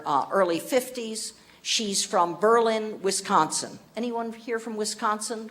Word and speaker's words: Berlin: of Wisconsin here uh you're probably not too far away from Berlin I think I'm pronouncing it the way people from Wisconsin pronounce it not Berlin Berlin uh Wisconsin now um Charlene Kain